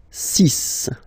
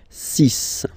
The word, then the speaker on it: six: Then be careful here, because even if it's ending with this X, well, you'll have to pronounce it like S, S, okay? So you get the six pronunciation, six, six, okay? So it's not six, it's six, all right?